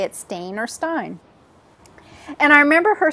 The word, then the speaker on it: stain: Do you say it Stain or Stein? And I remember her saying, well, you say Stain.